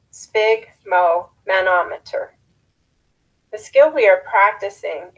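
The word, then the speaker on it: sphygmomanometer: device that measures pressure spig which rhymes with big relates to blood broken into its parts it is spig Mo manometer the skill we are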